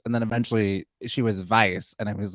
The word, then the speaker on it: Weisz: is Rachel Weisz's 52nd birthday. Rachel Weisz, we know her, we love her. Rachel Weisz. Not to be confused with Rachel Wise, because that's not how you pronounce her last name.